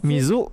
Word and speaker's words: 水: So, 水 mizu means water, right? Mizu. The English words is basically the pronunciation of the Japanese word, right? So mi is me, zu is zu, mizu.